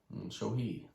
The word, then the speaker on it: Shohei: Pronounce his first name. Shohei.